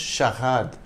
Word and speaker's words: charade: husband for a divorce both Sharad and sharads are pronounced shahad in French the French are is pronounced in the throat almost like the English